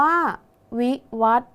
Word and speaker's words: วิวัฒน์: คะ วิวัฒน์ อ่าน ว่า วิวัฒน์ นัก เรียน สังเกต คำ ว่า วัด นะ คะ มี ทอ ผู้ เฒ่า เป็น ตัว สะกด ใช่ ไหม คะ ออก เสียง พยัญชนะ ท้าย เหมือน ด เด็ก ดัง นั้น คำ นี้